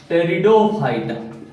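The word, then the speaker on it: Pteridophyta: टेरिडोफाइटा। टी यहां P silent होता है।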